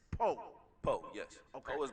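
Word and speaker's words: Powe: And it's spelled P-O-W-E, but it's Poe.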